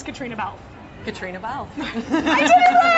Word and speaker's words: Caitriona Balfe: How do you pronounce Caitriona Balfe? Caitriona Balfe.